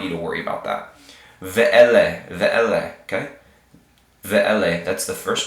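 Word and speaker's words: ואלה: So this whole word right here, and this H is, this hey is silent. Kind of like we have silent words, silent letters, silent H's at the end of our words in English. Like Sarah. Okay? So this is going to say ve'ele.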